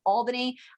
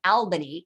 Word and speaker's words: Albany: said a million times albany it's pronounced albany you have to pronounce it like a good new yorker albany new york the seven